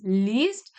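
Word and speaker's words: liest: not L it is least because uh one simple difference for pronunciation I'm telling you whenever there is i e then you will pronounce the E and whenever there's EI you'll pronounce the I so least and last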